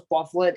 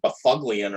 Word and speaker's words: Byfuglien: So would you have guessed it if his name was Bufflin? It's spelled Byfuglien.